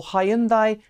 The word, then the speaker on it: Hyundai: Hyundai Kona electric or Hyundai or high-end buy however you say it in your own market because there are different regional pronunciations has become another entry